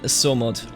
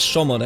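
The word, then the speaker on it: Somogy: My father has passed away, and now my twin rules in Somod. No, I think this is pronounced Shomod, actually.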